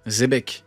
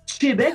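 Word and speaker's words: Xebec: Et ils disent comment ils prononcent Xébec les Anglais? Zébec, je crois. Zébec. Ouais. Et en France, nous, c'est quoi? C'est Péchébec bientôt. Ils vont tenir. Avant, c'était Chébec, maintenant, c'est Chébec.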